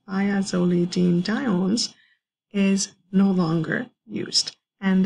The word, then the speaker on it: thiazolidinediones: This one, the one that's really hard to pronounce, again, I'm going to try, is called thiazolidinediones, and So this drug over here, or this type of drug that is pronounced thiazolidinediones, is no longer used.